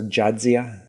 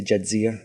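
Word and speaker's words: Jadzia: the Dax symbient and calls her jadia as opposed to jadia ah and every time it's it's not jadia it's like calling you am right you put the emphasis on the wrong syllable the emphasis never heard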